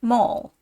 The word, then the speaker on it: Maul: Mast is a whole Spar Maul or Maul pronounced Maul a heavy iron Hammer used in driving bolts